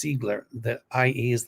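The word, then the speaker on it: Ziegler: his last name is Zigler in German it's Zigler the IE is like pronounced like z um or e um you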